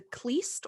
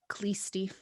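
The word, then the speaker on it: Khlysty: religious sect known as, I think it's pronounced the Kleist or Kleisty, something of that nature. I've heard it Okay. both ways. I'm going to say Kleisty.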